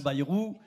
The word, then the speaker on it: Bayrou: monsieur bayrou et donc c'est comme ça qu'on prononce c'est facile d'aller vous comme bayonne s'est passé pas dure voilà monsieur bayrou l'a rappelé ce fait